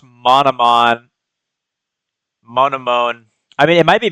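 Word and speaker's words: Monomon: Monone. I mean, it might be Monone. That's fine. But he says the first N like a D. He said he says modon.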